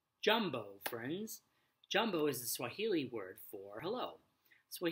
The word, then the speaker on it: Swahili: friends jumbo is a Swahili word for hello so what healy is a language that's spoken in many parts of eastern and southeastern Africa it's pronounced Swahili II you could teach